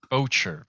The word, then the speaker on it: Boettcher: we have I think I'm gonna get your last name wrong. It's Boettcher? Boettcher.